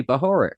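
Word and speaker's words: Bahorek: And another clue is Stanley Bahoric, Oh. if I'm pronouncing that correctly.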